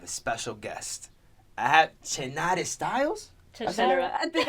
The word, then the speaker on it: Chenara: Chenara.